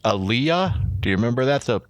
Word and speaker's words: Aaliyah: it had uh the singer i think it's pronounced aaliyah do you remember that the black girl from